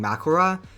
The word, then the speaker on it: Mahoraga: Now for Mahoraga, who I will now be calling Makora because that’s the Japanese pronunciation, and because I can’t say the other name without pissing other people off.